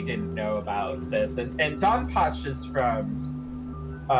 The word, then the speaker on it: DonPachi: You don't pronounce it. It's Donpachi.